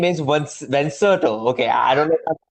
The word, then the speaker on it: Venserto: Uh yeah, it's pronounced Venserto.